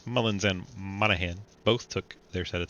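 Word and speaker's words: Monaghan: You notice how I pause every time I start to say Monahan. I'm like thinking in my head while talking, which one's silent? The G is silent. A silent G sound.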